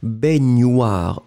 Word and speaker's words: baignoire: C'est féminin, baignoire, hein, pour la prononciation, c'est gne, baignoire, une baignoire.